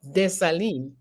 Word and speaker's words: Dessalines: Marie-Claire Heureuse Félicité Bonheur Dessalines is her full name.